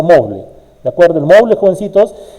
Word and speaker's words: Moodle: El CMS con sitios por excelencia, más conocido para hacer cursos virtuales online, el famoso Moodle, M-O-O-D-L, así se escribe, se pronuncia Moodle.